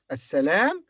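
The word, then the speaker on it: السلام: pronounced and sometimes not here in this word assalam it is silent the lamb is silent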